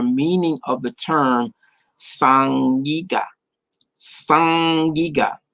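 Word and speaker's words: sag-giga: It's like the it's an interesting way to pronounce the. You don't have like sag like you would see it spelled. It makes the like the ing is a throat.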